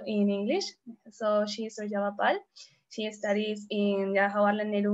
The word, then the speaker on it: Surjabha Pal: And my name, as mentioned, is Surjabha Pal. That's how we pronounce it.